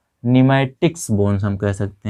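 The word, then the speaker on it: pneumatic: इनको कहा जाता है यहाँ पर पी साइलेंट में है, क्या है, पी साइलेंट में निमैटिक्स बोन्स, क्या बोलते हैं, निमैटिक्स बोन्स कहते हैं।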